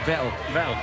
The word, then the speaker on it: Vettel: Vettel. Norbert Vettel. Vettel as in kettle.